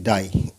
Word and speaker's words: die: এখানে দেখো যে এখানে আই এবং ইয়ের উচ্চারণ আবার কি হয়? আয়ের মতো। ঠিক আছে, আগে কি হলো? হ্রস্ব ই, এবার দেখো আয়ের উচ্চারণ কোথায় কোথায়। যেমন দেখো DIE, ডাই। তাহলে এখানে আই এবং ইয়ের উচ্চারণ হচ্ছে আবার আই।